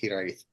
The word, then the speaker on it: Hiraeth: But yeah, and that's how you pronounce it, Hiraeth.